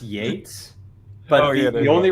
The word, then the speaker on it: Yeats: Technically, I think it's pronounced Yates, but Oh, yeah, there